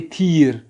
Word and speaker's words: تیر: وہ کیا ہے, تھی سے بنتا ہے, وہ ہے تھیر. تے یہ رے فارسی تلفظ میں تھا یا را, تھیر, تھیر.